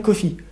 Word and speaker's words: Coffey: étonnant des détenus qu'il a jamais croisé, John Coffey, comme le café, mais ça s'écrit pas pareil.